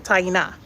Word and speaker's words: Taina: We say it like that in Creole, Taina.